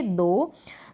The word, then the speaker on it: though: हैं ना, दो, ऐसे इस तरीके से आप प्रोनाउंस करते होंगे दो।